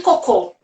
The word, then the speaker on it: cocô: outro exemplo filha olha pensa côco e cocô olha aqui como é diferente a sílaba tônica coco é a fruta e cocô não é